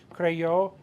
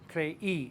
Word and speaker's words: creí: Creí, it makes it creí instead of crey.